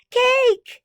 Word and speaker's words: cake: And a silent E at the end. It's gray, so shh, don't wake it up. It makes the A say A.